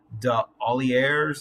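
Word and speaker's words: D'Aulaire: husband and wife team whose last name is spelled, it's French, De Olliers, D apostrophe Aulliers.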